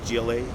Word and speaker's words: Glace: give me your name one more time and spell it for me sir sergeant glace glace